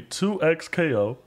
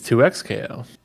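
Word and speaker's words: 2XKO: more I think I like two times KO I don't I think it's 2x KO it's just weird to say 2x KO but anyways uh the the the final name is uh 2x KO spelled like that um it's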